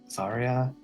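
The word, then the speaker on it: Xairia: Zarya. Better than Xanax. Anyways, X A I R I A. Zarya.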